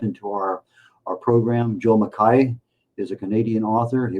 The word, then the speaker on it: McKay: it is uh pronounced mai which is the original Scottish Highland uh pronunciation for it. U most people will say McKay uh mistakenly including a number of people who have uh the last name.